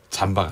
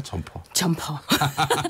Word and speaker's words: 점퍼: 점퍼. 잠바가 아니라 점퍼.